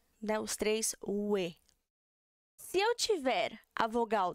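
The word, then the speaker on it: 외: Porque se eu fosse ler isso daqui, sairia como som de we, né? Mas a pronúncia dela não vai ser essa. Vai ser também we. Ela é a nossa terceira, nosso terceiro som de we, tá? Ele é exceção, we.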